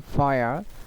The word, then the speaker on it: fire: So the R when the R it will come at the end of the word and R will be silent. So it's called a final R. So the fire it will be pronounced in our P accent.